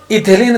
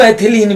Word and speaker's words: एथिलीन: इथिलीन तथा इथिलीन को एथिलीन भी कहा जाता है। इसलिए दोनों टाइप से जिस प्रकार से उसकी प्रोनाउंसिएशन होती है दोनों बताए, इथिलीन या फिर एथिलीन।